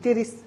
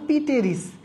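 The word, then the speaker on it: Pteris: ছোটবেলায় আমরা এটাকে উচ্চারণ করতাম পিটেরিস, পিটেরিস বা ফার্ন। তবে এই পিটা উচ্চারণ হয় না, এটা উজ্জ থেকে যায়, উচ্চারণ হবে আসলে কি? টেরিস।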